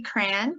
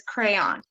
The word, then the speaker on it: crayon: So for me, I say crayon, my husband says crayon.